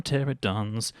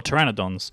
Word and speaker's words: pteranodon: go and hatch some pterodons. Yeah, or pteranodons. See, look, I've actually said it right for the first time in the whole series.